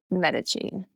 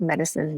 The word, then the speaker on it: Medici: We say Medici. The name means medicine, and so that's how I try and just help remember it phonetically, like medicine, Medici. But Medici is not incorrect. As far as I understand, Medici is the Italian pronunciation. Medici is the English pronunciation, so neither are incorrect.